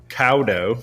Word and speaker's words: Caldow: Everybody, I want to introduce you to our friend, Patrick Caldow. I'm not saying his name how it's spelled, but I'm insisting. He insisted that I do not pronounce the L.